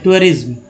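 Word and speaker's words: tourism: English word में टूअर, लेकिन टूअरिज्म बोलते बोलते टूरिज्म हो गया है। ठीक है, टूअरिज्म, टूअरिज्म ऐसे पढ़ेंगे, टूअरिज्म एक्चुअल उच्चारण यही है।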